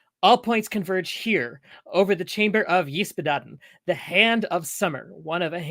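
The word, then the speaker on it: Ysbaddaden: It's Yspaddaden, but everybody can just call him Bodden, I think.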